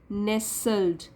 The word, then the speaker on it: nestled: Word बना है नेसल्ड, लेकिन जब नेसल्ड बोलना है तो टी साइलेंट हो जाएगा, टी को हम उच्चारण नहीं करेंगे। नेसल्ड, नेसल्ड मीन्स घिरा हुआ।